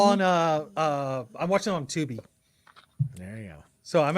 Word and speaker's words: Tubi: Yeah, they're all on, I'm watching them on Tubi. There you go. So I'm actually going in order, which is actually kind of fun. You know what I like about Tubi? Rhymes with boobies.